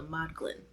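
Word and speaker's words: Modglin: audio book pronounce it but it's m o d g l i n so mod Glen pretty sure but anyways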